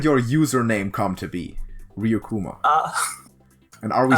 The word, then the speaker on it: Ryukuma: How did your username come to be, Ryukuma? And are we saying it right? No, yeah, you're saying it right, Ryukuma.